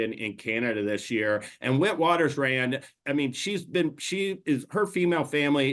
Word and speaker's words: Witwatersrand: This is actually a name in Afrikaans, I believe is how you say it. It's Vit. I mean, actually, Darin, you have it better than I do, so you say it. Witwatersrand.